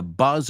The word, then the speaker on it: buzz: If you tell somebody to buzz off, you're telling them F-U-C-K off. Oh, come on, man. Buzz off. Buzz off. And that is that first word, buzz. It's and z, buzz. It rhymes with cuz.